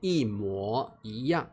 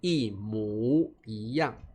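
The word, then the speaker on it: 一模一样: 好，这边特别注意哦，因为在台湾我们念一模一样，我们念模，在大陆念一模一样，两个地方的发音不同。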